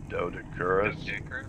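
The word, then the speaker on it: Doedicurus: That's how you say it, a Dodicurus.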